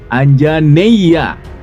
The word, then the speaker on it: Anjaneya: sebagai Putra Anjani Hanoman dipanggil anjaneya diucapkan anjaneya yang secara harfiah berarti